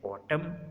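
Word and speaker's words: autumn: एन कब silent होगा? एन इज़ not pronounced following M एट द एंड ऑफ the word. अगर उसके बाद जो है वो एम के बाद एन आ रहा है ना, तो वो जो एन है वो साइलेंट हो जाएगा। जैसे ऑटम और हेम, तो यहाँ पर एंड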